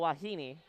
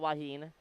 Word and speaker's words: Wahine: They are the Rainbow Wahine, not Wahine, Wahine, a Polynesian word, meaning a Polynesian woman, or more colloquially known to be a female surfer.